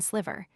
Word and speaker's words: sliver: The English also lengthen it in sliver. In America, the word usually rhymes with liver.